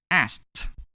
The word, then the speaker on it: asked: The ending sound of the verb ask is k. It is in group 1. Therefore, we pronounce ed as t in this case. Asked.